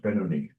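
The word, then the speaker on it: Beinoni: All right, it's pronounced Benoni.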